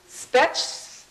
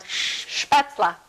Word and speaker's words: Spätzle: spetz, Shh. It's an SH sound. Spätzle. spätzle. Yes. There's an L in there.